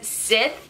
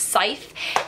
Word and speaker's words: Scythe: scythe by Neil Schusterman I pronounce this as zip and I got a lot of hate for it so I'm just gonna put that it's scythe and basically this book